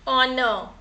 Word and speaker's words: honor: Honor. We can hear the sound of O. Honor.